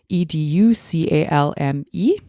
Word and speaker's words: educalme: And educalm, it's spelled EDUCALME.